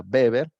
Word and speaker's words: Weber: Weber, se escribe Weber, pero se pronuncia Weber.